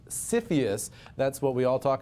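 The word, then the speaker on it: CFIUS: United States the acronym is the easy to pronounce cfus that's what we all talk about here in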